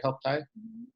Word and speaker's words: Health TIE: And they're doing some really cool things up there with Health Tie. Am I saying it right? Health Tie?